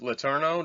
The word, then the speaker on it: Letourneau: folks, we're talking to Keith Letourneau. Did I pronounce that right?